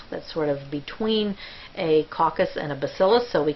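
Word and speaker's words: coccus: arrowead shape and the singular for coxy is pronounced caucus the next shape that you'll see is called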